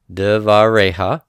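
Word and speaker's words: דְּבָרֶיהָ: Okay, the accent is on the last consonant before the endings here, devareha.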